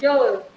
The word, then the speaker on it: joule: Nah, joule ini dibacanya joule.